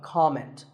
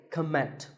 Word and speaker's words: comment: heard many speakers say comment now whether you use this word as a noun or as a verb the first syllable is always Cal so it's never a comment it's it's a comment word number 11 is